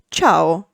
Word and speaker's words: ciao: In the middle of it, for example, cooperazione, co-o-pe-ra-zio-ne, or at its end, for example, ciao, cia-o. That said, let's see the weak vowels.